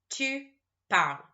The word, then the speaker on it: parles: Tu parles. As usual, we don't pronounce the S.